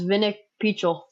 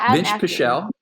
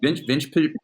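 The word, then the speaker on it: Vinc Pichel: a good fight, but your pronunciation is absolutely atrocious. No way. So I'm glad you're good at picking. Yeah. Ismael Bonfim versus Vinik Pichel. See, Vince Pichel. Dang it. Vince Pichel.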